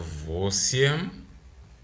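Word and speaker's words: восемь: Then we have vosiem and deviat, soft sign again, right?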